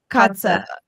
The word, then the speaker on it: Kotze: Kotze.